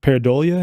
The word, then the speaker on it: pareidolia: Yeah, and they refer to that as like pareidolia. Pareidolia, is that how you say it?